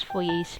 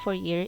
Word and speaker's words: Fourier: Just use Fourier's law. So It's not Fourier, it's Fourier, because the same as Poisson or Poiseuille.